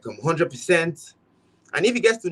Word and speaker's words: Hondread: But most people just pronounce it 100. So I just let them have the feel of that the pronunciation is still 100, you know.